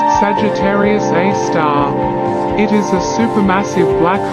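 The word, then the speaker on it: Sagittarius A*: Milky Way is called Sagittarius A asterisk pronounced Sagittarius A star it is a supermassive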